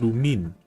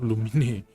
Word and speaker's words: Lumine: Oh, it's pronounced Lumine, not Lumine. Lumine.